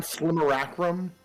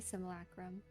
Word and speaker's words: simulacrum: not Slimmeracrum? I'm so sure. No, it's definitely simulacrum.